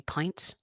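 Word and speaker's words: PINNT: And then another one would be Pint, that represent all intestinal failure patients. Okay. So Pint. Pints. So it's spelled the same way as you spell a pint of milk. Okay. Sorry, it's a double N, a pint, but with a double N.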